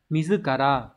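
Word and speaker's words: 自ら: Từ này đọc là mizukara.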